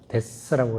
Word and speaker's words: debts: 근데 우리 죄를 거기에 마태는 기록하기를 죄를 어떻게 하면 debts, D-E-B-T인데 B는 묵음이기 때문에 debts라고 이렇게 debts, 빚하고 죄하고 똑같아요.